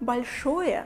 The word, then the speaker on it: большое: And the first word большое means big. And notice that L we pronounce very soft here.